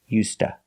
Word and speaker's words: used to: cold weather also pronunciation we don't say used to we say us the D is pronounced like a t used and to is pronounced T So together you hear UST you link the words used to and you hear USTA he needs to get